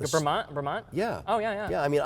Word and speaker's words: Bremont: But I don't even know how to pronounce the brand. Bremont, yeah.